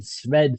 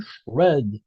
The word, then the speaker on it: SR&ED: in the industry say shred so why is that I don't know but somehow this pronunciation has emerged organically and Shred is like the debris coming out of a shredder this machine um so